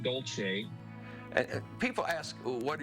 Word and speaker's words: Dolce: When I came to the University of Utah, I was DOLCE until my grandmother came to visit with my parents. He asked my grandmother the correct pronunciation, and she told him that it was DOLCE. And from that moment on, I became DOLCE.